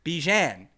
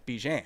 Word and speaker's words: Bjan: That's from Bjan. Rhymes with man. Bjan with a B. Uh, in Bravo. Yes. And a J. Okay. Bjan. Bjan. No, Bjang. Unless you say man.